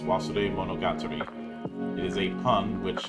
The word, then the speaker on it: Wasuremonogatari: the the name oh the name of the game is pronounced was monog it is a pun